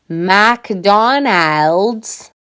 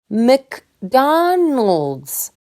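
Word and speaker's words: McDonald's: Even “McDonald’s” has a schwa! I don’t say “MAcDonAld’s”, I say “M’cDon’lds”.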